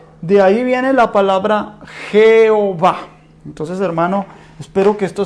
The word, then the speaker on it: Jehová: En el latín, Jehová.